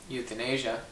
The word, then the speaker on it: euthanasia: Yeah, it's called releasing someone to elsewhere, which is basically euthanasia. True. Did I pronounce that right? You did pronounce that right, euthanasia. And we're not talking about young people living in the continent of Asia.